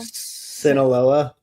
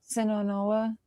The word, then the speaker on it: Sinaloa: Sinaloa. Sonola.